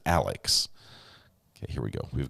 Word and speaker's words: Alex: uh on the podcast they were calling more like Alec it's it's almost like a in you know a different pronunciation it's his name is Alex okay here we go